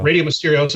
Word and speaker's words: Misterioso: Yeah, I pronounce it like Spanish because I grew up in Southern California.